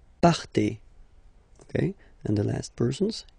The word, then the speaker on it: partez: Okay, then for vous, classic ending for vous as well, z, but then you pronounce it et, vous partez, vous partez.